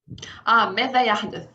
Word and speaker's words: ماذا يحدث: Comment le média se prononce-t-il en arabe? ماذا يحدث.